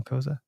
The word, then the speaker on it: Cozza: Daniel Daniel Kosa.